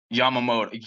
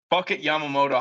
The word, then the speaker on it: Yamamoto: is given up I'm sorry I I can't pronounce his name Yamoto Yamamoto yam yam mamoto okay yeah M moto yep Yamamoto Yamamoto highlights and he's just walking dudes hitting dudes